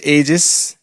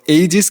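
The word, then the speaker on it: aegis: তো এইজেস কিন্তু পুরোপুরি উচ্চারণ হয় না। এর উচ্চারণটা কাইন্ড অফ এজেস টাইপের।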